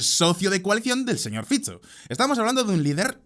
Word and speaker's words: Fico: de una forma distinta por si os interesa la pronunciación correcta es Robert fizzo pero lo más flipante de esta historia es quién diríais que es el socio de coalición del señor fizzo estamos hablando de un